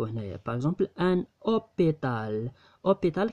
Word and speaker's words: hôpital: hôpital كنقراو هاد او. هاد او هي اللي تقرات. هاد اش ما تقراتش يعني مي.